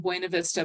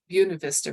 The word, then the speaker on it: Buena Vista: I've gotten a couple phone calls from the people in Buena Vista, but I didn't want to talk to, or Buena Vista, right? I have to say it right.